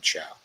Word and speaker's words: Chao: good with names yes i think it's spelled c-h-a-o but yes it is elaine chow right that is it what